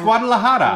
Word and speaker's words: Guadalajara: Guadalajara. You There don't you know go. Guadalajara? Did he say that right? Let us Yeah, know. it's Guadalajara.